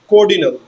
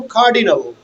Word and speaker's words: cardinal: then some of the students pronounce the word cordinal They said ordinal and cordinal. Now cardinal, cardinal and ordinal.